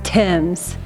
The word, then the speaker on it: Thames: just wait to read it real quick River Thames pronunciation as Tim's to rhyme with shims unless you mean the